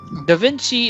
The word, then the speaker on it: Da Vinci: So Da Vinci is pronounced like it's one word and pronounced quickly.